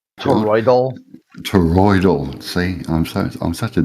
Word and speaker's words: toroidal: Is that how you pronounce it? Toroid? Toroidal.